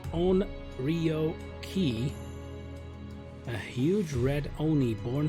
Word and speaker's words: Onryoki: key then bloody bastard pronounced as own REO ki a huge read only